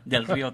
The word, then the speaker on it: Del Rio: And that's how you say it, Del Rio, Texas.